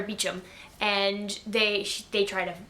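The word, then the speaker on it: Beauchamp: going by the name Clare ban uh or beum is how she pronounces it uh Clare beum and they they try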